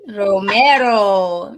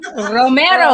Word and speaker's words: Romero: Romero. Romero.